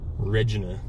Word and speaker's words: Regina: the main streets in Regina that's how you pronounce it Regina it's Pooh hello all right here's our legislative